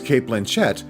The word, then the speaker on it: Blanchett: sequel oh got it I've never heard her name Kate Blanchett I've always said Blanchet I've never and I could have been saying it wrong all these years how many silent films